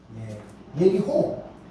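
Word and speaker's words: יריחו: 자, 여리고는 원래는 발음은 예리고라고 되어 있습니다. 예리호. 예리호. 예.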